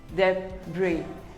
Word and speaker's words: debris: is pronounced as debris the bree the s is silent debris we all have